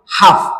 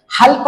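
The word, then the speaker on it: half: त्याच्यानंतर पुढच एक्झाम्पल आहे हाफ हा फ या पद्धतीने याच वाचन करायच आहे आणि यातला जो एन लेटर आहे तो आपलला सायलेंट ठेवायचा आहे लक्षात घ्या हल्प अस याच वाचन करायचं नाहीये तर पुढच एक्झाम्पल आहे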